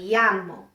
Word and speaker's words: llamo: The double L always sounds like the Y in ya. Ella. Yeah. Ella. Look over here. Me llamo. Ya. Me llamo.